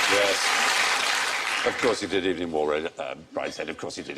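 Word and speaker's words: Evelyn Waugh: Of course he did, Evening War, Brideshead.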